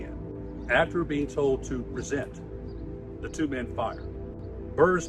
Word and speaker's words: present: the two men present with the accent on the second syllable present meant fire.